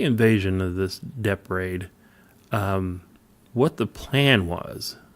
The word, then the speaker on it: Dieppe: The Dieppe raid, or Dieppe, how do you say that?